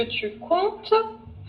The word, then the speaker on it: comptes: Est-ce que c'est quelque chose que tu comptes faire? Que tu comptes faire. Oh, Tu ok. tu prononces pas le M, tu comptes. Tu comptes. Alors, tu prononces pas le M, tu prononces pas le P.